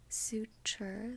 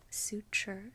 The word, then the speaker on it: suture: more properly pronounced but in casual or standard American English we pronounce the T actually as a CH sound as a CH sound so suture has the phoneme in